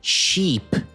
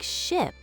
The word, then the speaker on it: ship: Help me with my pronunciation. There is a big sheep on the ocean. The phrase is, there is a big ship on the ocean.